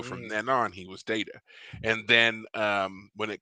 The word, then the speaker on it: Data: so they say anyway that his name is data not data because the first person to say it was Picard who says data and so from then on he was data and then um when it comes to this